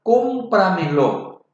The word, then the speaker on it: cómpramelo: En la palabra cómpramelo, tiene 4 sílabas.